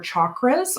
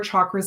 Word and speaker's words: chakras: when we keep our chakras or chakras depends how you want to pronounce it again if it's sanskrit it is typically the hard ch but keeping our chakras aligned is uh helpful